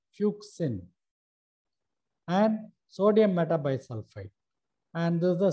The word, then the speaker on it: fuchsin: kindly go through it basic fusion more important it should be pronounced as fuchsin and sodium metabisulfite and